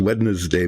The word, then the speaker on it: Wednesday: it is Wednesday morning if you look at how it's spelled it's very hard to say that but there it is wedness Day morning and it is once